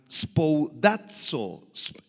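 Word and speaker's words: σπουδάζω: La palabra procurar, si tú la subrayas por favor en el verso 10, es la palabra griega spoudazo, con acento en la A, y significa hacer algo con prioridad, con premura.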